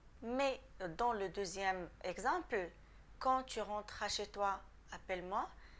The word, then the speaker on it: quand: Attention, quand le mot quand est suivi d'une voyelle ou d'un H muet, ça se prononce toujours te.